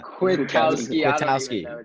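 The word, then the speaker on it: Kwiatkoski: you say it yeah I'm not quick Kowski quick Kowski yeah there yeah there you go but I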